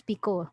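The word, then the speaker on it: Picot: the psych speaker pico actually it's pico let's say it's french so uh silent t and so what the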